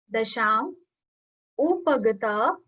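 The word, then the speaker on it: दशामुपगता: Dasham. Upagata. Upagata means obtained. Obtained. So remember the trick with M. So M always like joins the next word when we'll pronounce it. So it's Dasha Mupagata.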